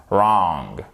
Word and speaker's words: wrong: Le W ne se prononce pas. Ici, vous ne le prononcez pas. On l'écrit bien sûr, mais on prononce wrong, right. He was right, you're wrong.